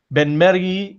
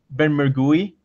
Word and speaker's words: Benmergui: my name is my last name is pronounced been Mary here at home at home English speakers usually pronounce it been more GUI I'm fine either way I live in Boris